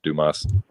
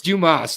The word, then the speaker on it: Dumas: I've heard some like I've heard some people trying to pronounce it like he's like Dumas it's Dumas literally in interviews Dumas he's like my name's dubas it's not Duma so stop trying to